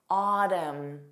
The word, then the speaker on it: autumn: This is common with MN spelling, but not a general rule, just a pattern. Autumn. So when it ends on your M.